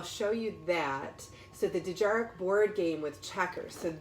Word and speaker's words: Dejarik: Dejarik, I believe is the correct pronunciation for it.